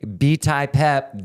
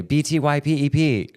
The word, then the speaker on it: btypep: me um otherwise they'll mispronounce it and say B Tai pep bitty pep or just call me pep or you know people that do know actually take the effort to say BT p p you know but that's